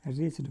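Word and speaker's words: wretched: इसके सिनोनिम्स क्या होंगे जी, इसके सिनोनिम्स हो जाएंगे, ये देखो रेच्ड, इसको क्या पढ़ोगे, रेच्ड पढ़ना, यहाँ पे डब्ल्यू साइलेंट होगा, टी भी साइलेंट होगा।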